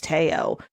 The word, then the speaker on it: Teo: was like No And she said actually for his name it's Teo um so just you